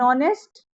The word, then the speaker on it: honest: Now here H is silent in honest.